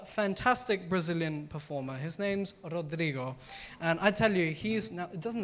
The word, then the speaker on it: Rodrigo: Rodrigo. Can everyone say Rodrigo? No, I want to see some passion in there. Some Rodrigo. Can everyone say Rodrigo? Can you roll your R's?